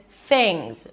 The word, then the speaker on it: Things: And then the last word is things. Stick the tongue out for the th things. and end it with a Z because the S is pronounced as a Z.